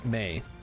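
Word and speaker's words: Mai: an obnoxious character yeah may you am I saying it wrong May it's it's pronounced May on the show yeah Zuko's girlfriend am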